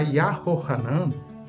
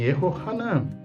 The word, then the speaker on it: Yehohanan: Olha só, a gente não encontra essas pronúncias. Não encontra Yahoshua, não encontra Yahohanan. Nós encontramos no texto hebraico Yehoshua, também Yehohanan. Nós encontramos Yehoiakim, Yehonatan, Yehoacaz, Yehoash, Yeho. É a forma como esses nomes perduraram entre os israelitas até hoje.